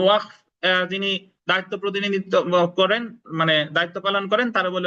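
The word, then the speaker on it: mesne: এ জায়গা যদিও আছে MES এনি, অনেকে মেসনে প্রফিট করেন বা মেস প্রফিট করেন, অ্যাকচুয়ালি এর উচ্চারণ এসটা সাইলেন্ট থাকবে, এলো মিন প্রফিট।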